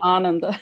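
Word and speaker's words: ānanda: of sanskrit you know we put our emphasis on the wrong uh um verb i mean um yeah the syllable ananda it's actually ananda okay the same three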